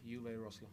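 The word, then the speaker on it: Uwe Rösler: The German way or the English way? The way that you would like Leeds United fans to pronounce it. Uwe Rosler.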